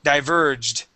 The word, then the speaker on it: diverged: saying diverge perfectly but we need a a d ending diverged diverg diverg there that's